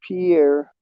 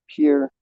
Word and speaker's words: Pierre: Don't say Pierre. It's Pierre.